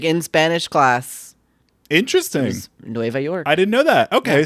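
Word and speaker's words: Nueva York: okay well uh well it's just New York and Spanish NOA York really that's how you say it in Spanish yeah really you know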